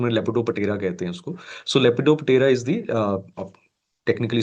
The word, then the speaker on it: Lepidoptera: can remember it better it is actually called as lepot terra but p word silent to pronunciation lepidopera so lepidoptera is the